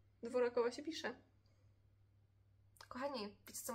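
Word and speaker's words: Dvořáková: No tak, i one zawsze czytają Dworczakowa. Sprawdzamy to, kochani. One zawsze czytają Dworczakowa. A według mnie Petra Dworakowa. Jest, tak się pisze, ale czyta się Dworczakowa podobno. Dworakowa się pisze.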